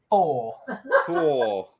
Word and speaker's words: Thor: Oh, obviously I don't pronounce TH correct. Thor. Tongue between teeth.